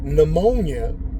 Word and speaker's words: pneumonia: You can have a word like pneumonia. They throw a P and an N in front of it, and the P is silent.